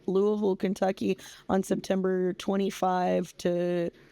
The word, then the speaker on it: Louisville: Louisville, Kentucky on September 25 to 27 with Ron Funches.